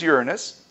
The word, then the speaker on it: Uranus: and Neptune and by the way the correct pronunciation is Uranus these are very different planets they aren't rocky